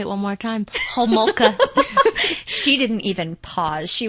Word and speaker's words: Homolka: So, mine is about Carla Leanne Homolka. Whoa. Did you hear me pronounce that name, guys? I'll say it one more time. Homolka.